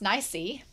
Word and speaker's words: Nice: For nice, which is pronounced nicey, the term wu nai is using the same first character to mean to have no choice.